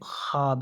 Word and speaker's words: خواب: معدولہ جو ہے وہ خواب ہے۔ واو معدولہ اس واو کو کہتے ہیں جو لکھا تو جائے لیکن تلفظ میں پڑھا نہ جائے۔ سوال نمبر 30 بہت پیارا ہونا کس محاورے کا معنی ہے؟